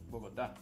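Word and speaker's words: Bogotá: Diego, did I pronounce that right? Bogota? Nope. Bogota.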